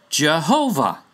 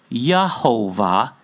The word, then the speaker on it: Jehovah: And the vowels of Adonai, and came up with the word Jehovah. J is pronounced Y in German, by the way. So no, it was Yehovah, even in this instance.